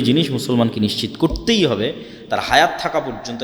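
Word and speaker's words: תּוֹרָה: মুসা আলাইহিস সালাতু ওয়াস সালামের কওমকে যখন তাওরাত দেওয়া হলো, তোরাহ বলে ইহুদিরা উচ্চারণ করে, যে তোরাহ, যখন তাওরাত দেওয়া হলো,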